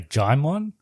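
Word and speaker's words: Djimon: Or Jamon. I think it's Jamon. It's probably Jamon. But I've heard people say Jaimon as well. It's definitely not Digimon.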